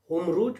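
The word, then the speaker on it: Hormuz: Iran होकर गुजरता था, उस रास्ते को हार्मूज कहा जाता है। होमरूज भी कहते हैं, कुछ प्रोनाउंसिएशन इसका होमरूज भी होता है।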